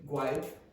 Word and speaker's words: guide: So remember, G-U, very often the U is silent.